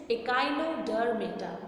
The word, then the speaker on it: Echinodermata: The pronunciation is Echinodermata.